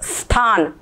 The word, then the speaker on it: स्थान: तो इसका उच्चारण करने के लिए जो सीटी बजाते हैं ना ऐसे सीटी बजा स्थान स्थान सीटी बजा स्थान समझ गए? इ नहीं निकलेगा। स्थान ऐसे बोलना चाहिए।